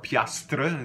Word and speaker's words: piastre: Okay, let's go on to the word piastre, piastre, the way it's written, but we don't pronounce the R-E.